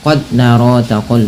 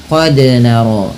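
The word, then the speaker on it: قد نرى: Contoh qod narqu wajhika itu salah. Tapi yang betul bagaimana? Qod naro. Kesalahan yang kedua biasanya menambahkan hamzah qod naro. Ah, seperti itu.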